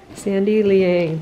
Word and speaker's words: Sandy Liang: oh yeah they're like super chunky too chunky sandy liang that's how you pronounce it guys you heard it here first